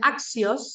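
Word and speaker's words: ἄξιος: Por ejemplo, esta palabra se pronuncia axios, significa digno, y tengo la desinencia del masculino singular, la desinencia del femenino singular y la desinencia del nominativo singular neutro.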